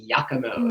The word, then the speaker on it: Giacomo's: I'm just looking up at this place called it's spelled Giacomo's, but I think it's pronounced Giacomo's. Right.